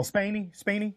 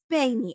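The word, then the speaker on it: Spaeny: Oh, Spaney, yeah. Spaney.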